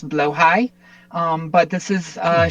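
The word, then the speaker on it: Blåhaj: This is um, as far as I am not Swedish, I'm fairly sure the pronunciation is blowhigh.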